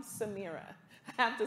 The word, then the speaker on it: Samira: more than one time samira no samira like sam samira i have to say